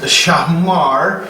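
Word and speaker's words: שמר: And keep is Shamar, and the reason I put so many R's there is because in the Hebrew they roll their R's like in Spanish, and I can't do that.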